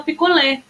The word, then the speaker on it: picolé: vocês pra falar Bambolê quer falar picolé porque ué tem acento aberto né uma cento agudo Então vai dar uma vogal que a gente fala de forma mais aberta picolé e isso dá o acento agudo para ele agora bambolê bambolê Perceba